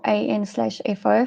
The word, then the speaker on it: ANFO: to listen enfo or an fo for ammonium nitrate fuel oil is well widely used bulk industrial is a widely used bulk industrial explosive its name is commonly pronounced as anfo unmixed ammonium nitrate can